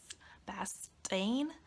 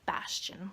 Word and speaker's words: Bastian: Bastain? I didn't know. So I had to watch a couple YouTube videos and now I know it's Bastian, like Sebastian.